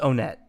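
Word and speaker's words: Onett: bear with me hopefully I'll be better soon Oh net a small town in Eagle and is it supposed to it's supposed to be on that right the Japanese pronunciation is Oh net like the common argument is that's one because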